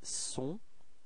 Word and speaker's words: sont: So actually this first sound, I mean this S, is the only way to dissociate être from avoir for il and elle. Okay, so don't be afraid to pronounce this S quite strongly.